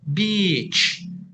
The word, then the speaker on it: beach: Pantai itu harus panjang beach. Kalau yang satunya ya udah enggak apa-apa biarin pendek begitu.